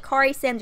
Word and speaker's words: Corey: is the quarries at Corey Simms or Kerry Simms and it's Corey Simms because my name is not so I would think that it would be pronounced Corey but also I have